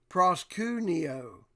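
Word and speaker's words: προσκυνέω: The word is G4352 in the Strong's, and it's pronounced, let's try this, proskuneo.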